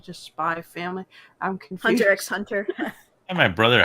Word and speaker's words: Hunter x Hunter: spy family I'm confused Hunter x Hunter my brother H roded me on that one it's like we actually you don't you're not supposed to read the X and like yeah I